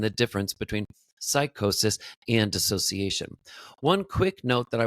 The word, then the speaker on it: dissociation: a lot of times there's a myth that it is disassociation. That that is what we call it. That that is the term disassociation. You may hear a lot of people talk about the term disassociation or disassociated actually the word is just dissociated. There is no a. It is not the full word association. It's dissociation. Dissociated. That is actually the correct term and the way to pronounce it.